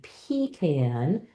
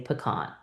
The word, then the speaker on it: pecan: You can definitely have kids decide which way the word goes, and then decide, I say pecan, but if you live in the South, you probably say pecan, right?